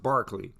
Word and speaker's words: Berkeley: Okay, so his name is spelled Berkeley but pronounced Barclay.